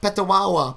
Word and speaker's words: Petawawa: True, Canada has some odd pronunciations with unsuspecting spellings. I think had Peter Wawa and hardly paused. Petawawa. Oh my gosh, yeah. See, I'll still struggle with it the second time though.